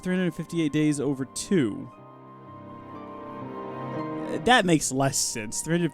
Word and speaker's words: 358/2 Days: new stream Hank yeah it's actually pronounced 358 days over 2 that makes less sense